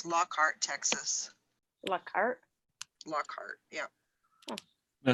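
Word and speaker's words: Lockhart: looking in again it's lockart Texas lockart lockart yeah now see in South Carolina we have a lockart too but it's pronounced locker locker locker but um yeah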